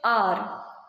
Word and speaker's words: hour: For example, you are an hour late for the concert. We do not pronounce it hour. We pronounce it hour.